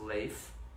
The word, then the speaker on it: Leif: Seattle Washington yes yes my name is pronounced lace my last name is talked to said some people call me Lee fool some people call me late for some people call